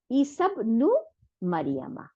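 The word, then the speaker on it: عيسى ابن مريم: তাইলে এখন কি হলো, ইসাব নু মারিয়ামা, তাই না?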